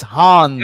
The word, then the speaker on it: Hans: These are some of the favorites, and He's talking about Hans, not Hans. Hans. I don't know how to pronounce. Now, usually correct me, but it's Hans.